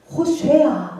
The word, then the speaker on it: 호쉐아: 구원, 호쉐아 원래 발음은 그렇대요.